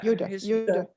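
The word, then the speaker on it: Jutta: And he's sitting there and he's thinking, how would you say her name? Judah? Yeah, Yuda, yeah.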